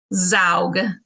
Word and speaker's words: Zaugg: Zaugg.